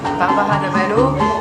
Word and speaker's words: Bárbara Dávalo: Faut le prononcer avec l'accent. Exactement, oui. Barbara D'Avalo, qui, je pense que je raconte un peu d'où elle vient.